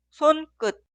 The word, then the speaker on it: 손끝: La primera sílaba suena 손, 손, 손. Y la segunda sílaba, 끝, 끝, 끝. Y la palabra entera se pronuncia 손끝, 손끝, 손끝.